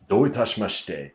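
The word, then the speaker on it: どういたしまして: For example, in the 1980s or 90s, there was a Japanese comedian who associated "doitashimashite" with Don't touch my mustache.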